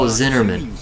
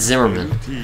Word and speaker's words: Zinnerman: Oh, Zinnerman. I always pronounce it Zimmerman.